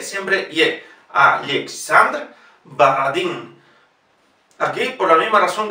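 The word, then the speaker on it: Borodin: Alexander Baradin. Aquí, por la misma razón que dijimos antes, si la O no compone la sílaba tónica, en la pronunciación se transforma directamente en A. Baradin.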